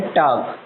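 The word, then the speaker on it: talk: में अगर बात करें टॉक, टी जो कि फर्स्ट फॉर्म है TAL के, इसमें L साइलेंट रहता है, तो टॉक मीन्स क्या होता है, बात करना होता है।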